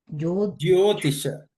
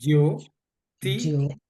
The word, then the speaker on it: Jyotisha: Brother, you have mentioned about the Jyotish, how they pronounce it exactly? Jyotisha. Jyotisha, okay. Jyo, Jyo. J-Y-O, okay. Jyotisha.